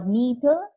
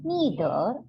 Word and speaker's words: neither: of either on or neither nor first of all understand the pronunciation the pronunciation is you can pronounce either or either or neither or neither both are correct depending upon your liking you can call it